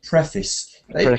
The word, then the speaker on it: preface: like a verb so when it's a noun they say preface well it's interesting because there seems to be no stress on that word but it's pre almost is is the stress but um not pre preface so it's it's an